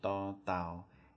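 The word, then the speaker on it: ต เต่า: For the second one, however, da tao, you're going to move your tongue down a little bit and put it right back into the back of your two front teeth. And when you make that sound, it'll be a bit harder. Da, da, da, like that. Okay, so that's da, da.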